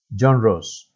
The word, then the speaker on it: genre: of john rose does the pronunciation is genre but the spelling is different okay that is the